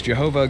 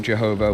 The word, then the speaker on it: Jehovah: to the Germany region, where Y's are commonly pronounced with a J sound and W's are pronounced with V sounds. So is Jehovah God's actual name?